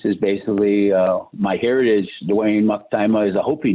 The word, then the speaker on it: Maktima: It's just my name is pronounced Maktima, Mocktyma.